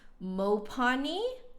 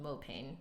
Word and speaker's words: mopane: mopane wood lip plate which apparently is more correctly pronounced Mopani I think but you know yeah I assumed that it was just called mo pain so I've been saying